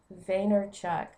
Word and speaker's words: Vaynerchuk: sorry I've got it right here let me pronounce the man's name right Gary vaynerchuck that's it Kush it and up probably upside